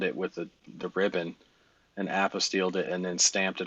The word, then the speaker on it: apostille: holy they bound it with the ribbon and apostilled it and then stamped it on top of